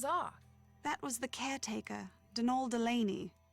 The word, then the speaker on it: Donal: that was the caretaker Donal Delaney not Donald mind you there's no D at the end so it's pronounced danal that's the way you're